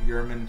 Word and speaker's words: Yerman: Yerman, just because his name is spelled like German, it's pronounced Yerman, and he's also English.